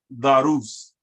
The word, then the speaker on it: darus: Whom darus. Remember that R that's in the middle got to be pronounced on the left side and the right side.